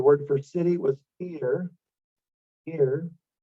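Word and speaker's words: עיר: Ir. Again, it starts with an ayin, which is silent, and then the yod and the resh.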